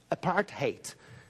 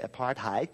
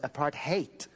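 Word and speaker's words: apartheid: not like Americans say apart height no it's apart hate like the word apart plus the word hate that's what it sounds like and it's always served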